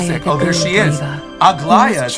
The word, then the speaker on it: Aglaea: Aglaea is how you say her name.